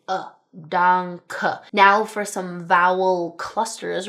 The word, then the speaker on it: danke: And then an 'e' at the ends of words like in 'danke', (dahnkuh) right. Spelled like this. We have to say that 'e'.